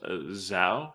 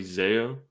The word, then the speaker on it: Zao: uh there's a band i think they're pronounced zao a z-a-o so it might be zeo but i think it's zao i don't know it's one of the two but they they have